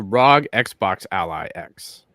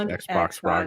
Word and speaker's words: ROG Xbox Ally X: Actually, it's not. I'm saying it wrong. Actually, it's the ROG Xbox Ally X. I know. I don't know. I wish it was Xbox ROG Ally.